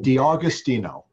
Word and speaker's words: D'Agostino: you pronounce it well think of August D Agostino awesome I love that